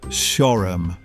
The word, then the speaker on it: Shoreham: Welcome to Shoreham in Kent, often pronounced locally as Shorrum.